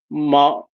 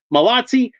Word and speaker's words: Malotsi: Before I was doing these Batman figures, say like Malot Malot Malotsi. Malotsi. Am I saying it right now? Malotsi. Okay. So, there there's there's a T in there.